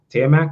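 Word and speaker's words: Taimak: So the star of the movie, I think is Tiamat is how you pronounce his name? Yeah, Tiamat.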